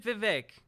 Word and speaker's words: Vivek: an entrepreneur oh look at that okay Pac-Man pronounced it Vivek very nice also Vivek just looks like he's